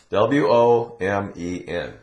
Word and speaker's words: women: Now, this letter, O, in this word, W-O-M-E-N, it's pronounced women.